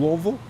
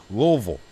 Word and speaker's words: Louisville: Louisville. Louisville. Louisville. Louisville. You don't even, like, pronounce it. You just, like, let it roll off the tongue. Louisville.